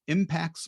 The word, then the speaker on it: Impaxs: is Alex Sheridan the founder and CEO of impacts marketing and that's spelled IMA XS so Alex and his crack